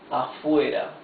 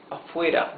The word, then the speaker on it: afuera: So it's afuera, not afuera.